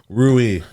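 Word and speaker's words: rouille: the side with essentially a saffron aioli called Rui. That was also Anthony's recipe as well. How do you spell that? That was very good. Yeah, Rouill. Rui.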